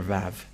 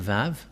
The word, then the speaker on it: Vav: So here is the letter Vav. The Vav. And this is the letter Vav. This is the Vav. The way to read this is V as in Vag.